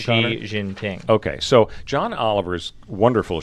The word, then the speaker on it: Xi Jinping: And maybe you'll have an opportunity because maybe if the president of China, now how do you pronounce his name, Connor? Xi Jinping.